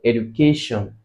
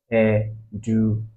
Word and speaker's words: education: Now, if you hear that word education, you can deduce education. You can deduce that the stress is on where the third syllable, right?